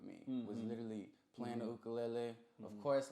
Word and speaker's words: ukulele: for those who get the American connotation of it is ukulele it's easy to say you know what I mean and that's that's like where people took it and ran with it people say it like that in movies and shows and TV and all that type of but the real Hawaiian uh structure of the word is ukulele okay now have you